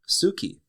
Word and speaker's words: tsuki: the Japanese word for moon and moon is Suki Suki is spelled TS u k i and Suki is